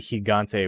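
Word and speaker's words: Gigante: you get higante and his name is actually higante with uh an h and not a g i think they were like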